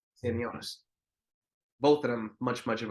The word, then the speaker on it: Stanionis: Stan, how do you pronounce his name? Staniosius? Stanionis. Stanionis.